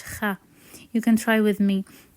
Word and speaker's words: خ: This one is a bit tricky because it has no equivalent in most languages, but it's so similar to the Scottish kha.